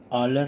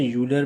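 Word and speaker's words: Euler: Mister ऑलर ने दिया था। ठीक है, या मिस्टर यूलर भी कुछ प्रोनाउंसिएट करते हैं इसको।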